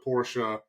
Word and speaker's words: Porsche: this category is actually the Porche yes it is two syllables go on their YouTube